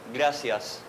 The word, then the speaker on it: gracias: Gracias. For the "R", it's very strong, it's… Can anyone do that?